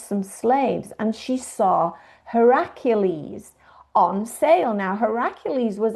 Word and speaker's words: Heracles: You may be more familiar with the term Hercules as opposed to Heracles. But Heracles is really the way you pronounce it.